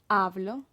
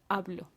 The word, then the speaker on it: hablo: With hablo. With hablar, yeah. Okay. Yo hablo, tú hablas, nosotros hablamos. Right. So in yo and tú, the accent is actually on the first syllable.